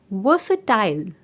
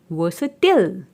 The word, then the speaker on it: versatile: This word has to pronunciations. UK English में हम इसे बोलते हैं वर्सेटाइल और यूएस इंग्लिश में हम इसे बोलते हैं versatile.